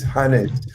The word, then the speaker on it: Hannes: No, I pronounced your name wrong. I'm sorry, Hannes. I said Haynes. Hannes.